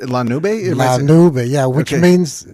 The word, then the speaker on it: La Nube: Pronounced La Nube? La Nube, yeah, which means, it's cloud.